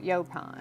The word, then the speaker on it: Yaupon: Yaupon. I always say it wrong. Yaupon.